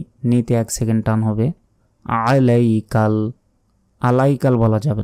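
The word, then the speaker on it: عليك: বিকা ওয়ানাতা তাওয়াক্কালু ওয়ানাতাওয়াক্কালু আলাইকা আলাইকা আইনের উচ্চারণ করবেন আলাইকামিনুবিকা ওয়ানাতাওয়াক্কালু আলাইকাসনি আলাইকাল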